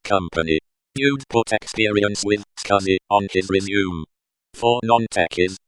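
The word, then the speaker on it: SCSI: for an IT company you'd put experience with scuzzy on this resume for non-techies cuz it is a type of hard drive pronounced Husky wrote it but never in a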